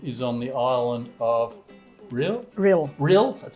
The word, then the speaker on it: Rhyll: the tender position is on the island of real real real that's how you pronounce it so where is real what it's